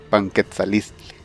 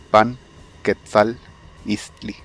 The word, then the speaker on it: Panquetzaliztli: puede ser mejorado con una profecía en el Panquetzalistli, que hace referencia al 15º mes dedicado a Huitzilopochtli. Panquetzalistli. Panquetzalistli. El escudo que vimos al principio es bastante difícil de pronunciar debido al apóstrofe.